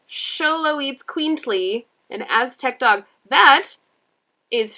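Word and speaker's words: Xoloitzcuintli: three thousand year old pronounced show low eats queently an aztec dog that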